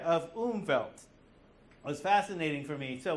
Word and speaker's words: Umwelt: The W is spelled, it's spelled with a W, but it's pronounced with a V. Yeah, like Hawaii. Umwelt.